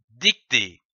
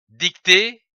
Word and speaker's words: dictée: Une dictée, D-I-C, dic, T-E accent aigu E, T, dictée, que l'on peut prononcer dictée ou dictée.